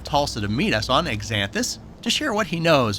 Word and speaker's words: Xanthus: We hear them pronounced, xanthus and exanthus. But it's exanthus, starts with an X, A-N-T-H-U-S.